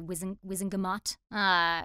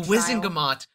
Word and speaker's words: Wizengamot: know, having the full, what is it, the Wizengamot? The Wizengamot. They pronounce it differently in the movie, though, don't they?